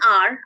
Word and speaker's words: hour: Then an hour, I waited for an hour, even though the spelling starts with H-O-U-R and H is silent here.